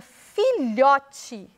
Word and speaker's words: filhote: Na palavra filhote, lhó foi o que eu falei com mais força.